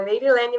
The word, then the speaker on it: Meirylene: Fiquei chocada que você acertou meu nome perfeitamente, a pronúncia, Meirilene mesmo.